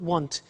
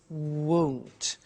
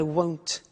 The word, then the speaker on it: won't: the money is won't be careful with the pronunciation it's not want it's won't so the example is I won't buy it or I